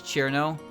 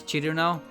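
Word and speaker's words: Cirno: they told me to pronounce Chirno as Chiruno, I would probably just keep calling it Chirno anyway. Because I know I know how to pronounce it. I know it's 3 syllables.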